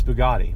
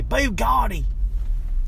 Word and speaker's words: Bugatti: say it like that it's Bugatti but I don't say baby Gotti which is dumb but so we gotta